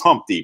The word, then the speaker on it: Humpty: let me introduce myself my name is humpty pronounced with umpty yo ladies yo how